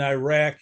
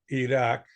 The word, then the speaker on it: Iraq: So that's why we pronounce countries like Iran and Iraq improperly. Their real names are Iran and Iraq.